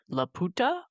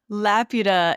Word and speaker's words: Laputa: So Laputa is how they say it in the English dub, but if I had my way, I would say La puta because that is that means the bitch in Yeah, Spanish.